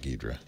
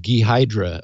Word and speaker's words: Ghidra: because I was clueless I think I was saying gydra or something uh anyway several people said uh Steve it's gidra uh anyway the the